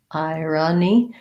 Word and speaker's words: irony: this O sounds like irony. This one has second syllable stress. This one has first, by the way. Irony, short, long there.